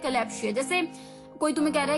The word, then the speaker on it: kalopsia: तो चलिए द 8th word for the evening was कैलैप्सिया, कैलैप्सिया, KALOPSIA, कैलैप्सिया, KALOPSIA, कैलैप्सिया।